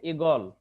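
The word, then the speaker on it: ঈগল: যেমন ইগল, ইগল আছে, শব্দের শুরুতে কি আছে, দীর্ঘ ই, কিন্তু উচ্চারণ হবে ইগল, এখানে রস্য ইকার হয়ে গেছে, ঠিক আছে।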